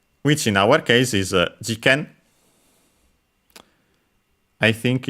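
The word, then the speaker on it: 事件: Okay, no, it's actually accented on the first one, jiken.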